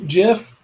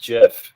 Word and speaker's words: GIF: It's pronounced GIF, not GIF.